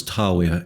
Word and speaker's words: Dragør: esse lugar se chama Dragon aqui que entra na Marquês significa dragão é mesmo nasci nesse lugar a pronúncia é mais ou menos Tower e não tem nada